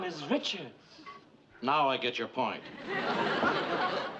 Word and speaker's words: Richards: the best of luck to our own Mary Ricards.